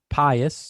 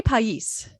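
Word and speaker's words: País: So Pius. You say Pius? I say Pais. Pais? Pais. Oh, you say it correctly.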